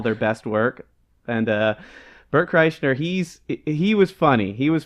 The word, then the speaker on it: Kreischer: Kreischer. Kreischer.